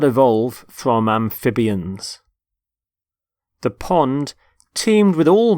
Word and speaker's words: amphibian: the first word is amphibian amphibian notice the stress on the middle syllable amphib amphibian there are animals such